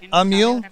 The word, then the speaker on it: Ameel: Yeah, so we're here with Ameel. Yes. Did I say that right? Ameel. Ameel.